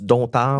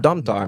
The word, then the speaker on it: Domtar: négociation avec la société, je crois qu'on prononce Donard, la DT Domtar, merci beaucoup.